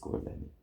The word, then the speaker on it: Lennie: LENNY. IE. LIE ENNI. Yeah. Not Y. No. LIENNI. That's spelled very IE. different. Don't forget the E at the end. IE. Oh, Lennie like LENNIE. Yeah. Oh, okay, no Y. IE.